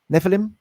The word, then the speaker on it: Nephilim: Right pronounced? Nephilim?